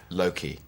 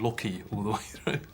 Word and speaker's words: Loki: swear Anthony was saying Loki uh well well he's Welsh so maybe he maybe that's I think he says Loki Loki like that in his deep gravitas sincere way yeah there we go Loki and so how many